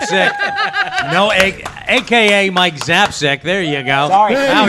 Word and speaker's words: Zapcic: mike zapcake zap sick no egg aka mike zapsec there you go sorry oh yes pronounce that just like that mike's done with